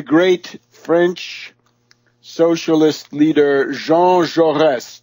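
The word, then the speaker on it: Jaurès: assassination of the great French socialist leader Jean jores j a r e s with a little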